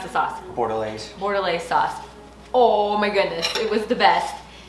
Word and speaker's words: Bordelaise: How do you pronounce the sauce? Bordelaise.